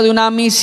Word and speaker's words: dunamis: o dinamita en español en griego se pronuncia dunamis y en español Dinamita hay una Dinamita dentro